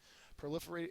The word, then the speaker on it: proliferate: have in this unit proliferate is a verb first sorry excuse me second syllables accented it means to reproduce